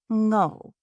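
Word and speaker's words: Ngo: say her last name, which was pronounced literally how it was spelled, like I-N-G-O, without the I. Ngho.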